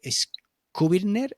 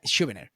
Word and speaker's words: Schubiner: Skubirner. I don't know if I pronounce properly the name, but he's like the new Dr. Sarno. And Yeah, Schubert. yeah, Schubiner.